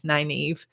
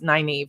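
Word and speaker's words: Nynaeve: book I could buy so Evie's name is 9 Eve so it's NY nae ve 9 Eve and we know for sure that's how he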